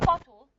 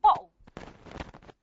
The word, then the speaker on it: bottle: So in London, for example, they wouldn't say bottle. They would say bottle. Bottle. They use it the glottal stop.